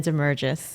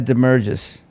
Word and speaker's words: Damergis: Damergis. Damergis. Yes. And Sort of like Corinthos, Damergis.